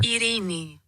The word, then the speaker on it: Ειρήνη: Ειρήνη. There you go. You want to hear it one more time? Ειρήνη.